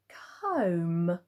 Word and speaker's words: comb: have got this one which is comb comb and again you think that actually is the off sound isn't it ok but it because we have but in this word it is the O sound and again this is